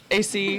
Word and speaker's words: Asay: I always say it AC. That's right.